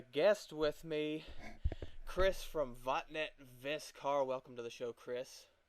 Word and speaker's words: Vattnet Viskar: I've got a guest with me Chris from vet viscar welcome to the show Chris how's it going Jonathan it's going great first I want to make sure I'm pronouncing the band's name correctly as vet viscar yeah yeah that's that's as close as we